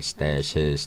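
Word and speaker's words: Stashiz: that from well Monday stashes basically is stash says the way I spell it as s ta shi Z so it's basically like stashes - keeping it in a tough ok Jimbo slice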